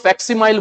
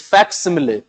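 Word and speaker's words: facsimile: इसे कुछ लोग फैक्सिमाइल बोलते हैं, इसका प्रोनाउंसिएशन फैक्सिमाइल नहीं है, इट्स फैक्सिमिले।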